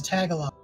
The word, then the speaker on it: Tagalog: that is okay that's that's that's how it's pronounced as tagalog all right i'll tell my i'll tell you